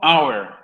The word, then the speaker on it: our: We, adjetivo posesivo, our. Our. Que obviamente sería nuestro o nuestra, o el plural, nuestros o nuestras. ¿Ok? We pasa a ser entonces our. Se pronuncia igual que hora en inglés. Hour.